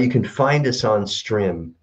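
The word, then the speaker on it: Strimm: s-t-r-i-m-m all right you can find us on stream it's it's pronounced stream but it looks like stream s-t-r-i-m-m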